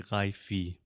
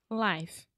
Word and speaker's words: life: of Brazilians would say haifi because we write it with an E and A lot of our students just automatically think that means you say the e sound you don't it's just life life cool is is it's